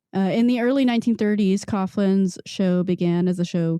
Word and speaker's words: Coughlin: Uh, Charles Kouglan, I think that's right. Correct me if I'm wrong. Coughlin. Coughlin. Thank you. I knew I was saying it wrong because I just watched